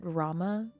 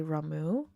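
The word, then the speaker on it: Ramuh: I pronounce it Rama, but sometimes I've heard people say Ramu, which I also understand, but I pronounce it Rama.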